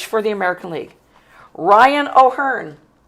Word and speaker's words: O'Hearn: Batting DH for the American League, Ryan O'Hearn. I'm saying it right, too. Yeah. O'Hearn.